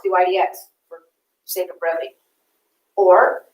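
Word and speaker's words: dy/dx: over dx is pronounced d y d x we do not say d y over d x you two take the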